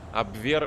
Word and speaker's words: абвер: а мне третью половину абвер это в на второй слог ударение там должны быть абвер